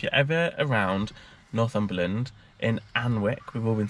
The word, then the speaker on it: Alnwick: So if you're ever around Northumberland in Alnwick, we've all been saying it wrong, just come to Alnwick Castle.